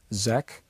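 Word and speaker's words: Székely: His name was Edmund Bordeaux-Zekli, or some people pronounce him Zek.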